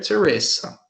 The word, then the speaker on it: Teresa: se escreve em português, a pronúncia do S em inglês é som de S mesmo, não é som de Z, tá? Igual no português. Então, eu tenho Mother Teresa, ok?